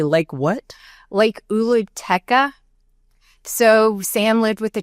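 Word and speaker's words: Oolooteka: Lake Uluteca.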